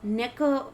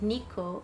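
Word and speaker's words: 猫: Like, if Neko, for example, if Neko was the same cat in Spanish, we would say Neko too. Like, in English, you will say something like Nico or Nico or something like that.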